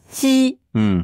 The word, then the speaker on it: 西: trou vraiment bien trouvé donc ce caractère se prononce si si XI pas facile à prononcer bah c'est surtout ne disent pas XI he donc c'est si comment tu arri à dire si c'est entre le SE et les chux en fait pour moi